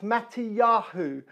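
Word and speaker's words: Matityahu: And the name Matthew in Hebrew is pronounced Matiyahu, which means gift of God.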